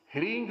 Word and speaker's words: ह्रीं: तो ह्रींग मंत्र को ह्रीम लिखा जाता है, पर प्रोनाउंसिएशन उसका ह्रींग है, HRING। तो जो देवी का नवाण मंत्र है, दैट इज एंग ह्रींग क्लिंग चामुंडाई विच्चे।